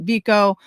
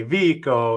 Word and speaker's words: Vico: So that's the big debate too, is his name is spelled Vico. Is it Vico? Is it Vico? We did enough research, Vico, and you tell us otherwise, but Karen and I found out that you prefer Vico.